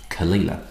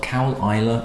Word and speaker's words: Caol Ila: of see just African Heartland you should see kalila so it's not caol ila or anything like that it's one of when